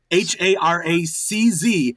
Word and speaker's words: Haracz: Harris, and it's said just like it's spelled. Haracz, Harris.